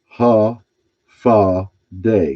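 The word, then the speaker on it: Håfa adai: And he gave us a pronunciation on the first line up there, half a day. Half a day. Half a day. Pronounced ha fa day, which means hello. This is Chamorro, the language of the native people of Guam, who are also called Chamorro.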